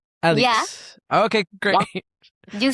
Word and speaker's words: Alix: Is that how you pronounce it? Yeah, you said Alix? it right. Alix.